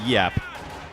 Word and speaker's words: Giap: I was pronouncing it wrong with the hard G for like a year and then I learned that it's actually pronounced like a Y sound.